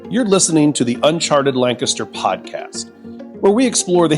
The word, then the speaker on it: Lancaster: If you want to avoid being immediately flagged as a tourist, you say Lancaster. Lancaster. Lancaster. Yeah, not Lancaster.